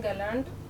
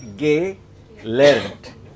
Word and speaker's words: gelernt: Even most of you are still saying gelernt. Why are you saying gelernt? It's not gelernt. It's gay learnt. Twice your lips have to stretch out.